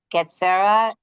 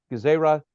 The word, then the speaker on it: Gezerah: Mitzvot de Rabbanan are commonly divided into three categories: Getzera, Takana, and Minchag. Yeah, so just to get the pronunciation right, Gezerah, Takana, and Minchag. Okay.